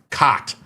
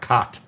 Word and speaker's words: khat: No, not cock, khat. I believe it's pronounced K-O-T-T, I believe.